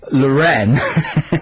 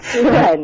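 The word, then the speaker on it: L'Wren: And I think the name of Jagger's girlfriend at the moment is Lorraine. Lorraine. And it's spelled L''WREN. Lorraine.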